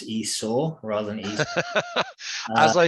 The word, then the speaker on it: Esau: In Genesis 25, Abraham dies, Jacob and Esau are born, and Esau sells his birthright to Jacob.